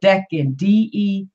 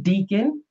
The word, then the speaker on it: Decan: That's how you can tell what Decan, Decan. That's how it's pronounced. I used to pronounce it Deacon until I understood that Decan was short for decade, which is also decade, which is 10.